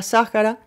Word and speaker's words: Sáhara: té en el sáhara cada vez que decía sáhara que pronunciaba la manera árabe como fuerte acento en la primera sílaba se detenía un instante